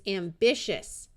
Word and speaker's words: ambitious: TI before Latin suffix says sh, so this is ambitious.